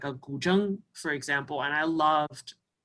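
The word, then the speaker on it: 古筝: So I could sample something like a guzheng, for example, and I loved the sound of a, is that how you say it? Guzheng or guzhen? It's like guzheng.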